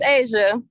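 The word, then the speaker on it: Aysia: i caught the moving target my name is asia asia all right go ahead asia and spell it for me if you would please it's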